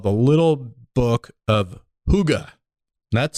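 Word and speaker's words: hygge: it's this book called the little book of Huga that's spelled h y g g e Danish secrets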